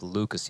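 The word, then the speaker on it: LUCAS1: kind of interesting how for henny you say hen e you pronounce the one with lucas you don't you just ignore the one it's kind of not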